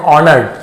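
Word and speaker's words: honored: करना, अवर ऑनर्ड guest, यहां पे एस साइलेंट है, हॉनर्ड नहीं पढ़ेंगे, ऑनर्ड, सम्माननीय जिसे कहते हैं,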